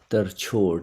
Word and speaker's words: Tarchod: And it is called Tarchod, and it is pronounced as Tar, T-U-R, Chod, Tarchod. Tarchod means a scornful kick, a scorn-filled counter-attack.